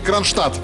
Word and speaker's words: Кронштадт: Какая буква не произносится в слове Кронштадт? Д. Точно.